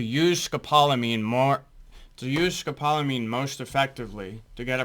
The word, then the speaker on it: scopolamine: Scopalamine. Scopalamine hydro hydro bromide. First word pronounced scopalamine.